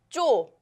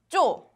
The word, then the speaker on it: 쪼: Okay, next one is 쪼, 쪼.